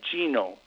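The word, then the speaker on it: Gnomon: I went to Genome, which is it's spelled G-N-O-M as in Mary O-N, Genome.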